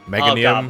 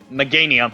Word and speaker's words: Meganium: I can never pronounce Chikorita's last evolution. Oh Meganium. God, what? Meganium, I think it is.